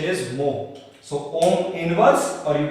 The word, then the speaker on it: mho: Mho. The pronunciation is mho.